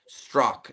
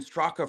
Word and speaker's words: Straka: And the person will be like, "Wait, your last name is pronounced Stro?" And I'm like, "Yeah." And they're like, "But I've been calling you Brandon Stroka for like six years."